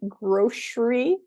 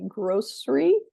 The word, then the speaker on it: grocery: I tend to say grocery, but some people say grocery or grocery with 3 syllables.